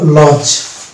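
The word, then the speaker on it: lodge: যেমন ডিজি থাকলে কেমন সাইলেন্ট, যেমন এখানে আছে এল ও ডি জি ই, এখানে ডি জি আছে ওই জন্য এখানে ডি সাইলেন্ট থাকবে এবং শুধু জি এর উচ্চারণটা হবে, অর্থাৎ এল এর ল আর জি এর লজ।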